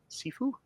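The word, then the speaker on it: Cifu: Douglas Sefue. Am I pronouncing that right? Sefue.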